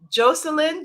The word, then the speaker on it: Jocelyn: correctly joycelyn ugalino moniz that's a beautiful name jocelyn jocelyn jocelyn jocelyn ugalino moniz and i'm going to spell that for hay house so j-o-c-e-l-y-n jocelyn and